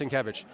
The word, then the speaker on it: Sienkiewicz: All right, Sienkiewicz. All right. Trust me, his name is pronounced Sienkiewicz.